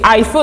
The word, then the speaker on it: iPhone: de l'iPhone en disant iPhone avec A, que voilà que c'était un mot anglophone et du coup le I se prononce A.